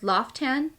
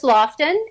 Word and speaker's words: Lofton: i'm pronouncing it wrong is it called loftan so it's lofton and i always say